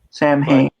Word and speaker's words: Samhain: Yeah, it gets even more confusing in that it's supposed to be pronounced Samhain, but still spelled like that. Because Celtic pronunciation and all.